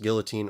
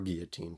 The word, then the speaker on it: guillotine: According to Webster, it can be pronounced guillotine or guillotine.